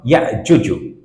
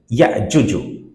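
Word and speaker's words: يأجوج: It will become ya'juju. Understanding? Ya'juju.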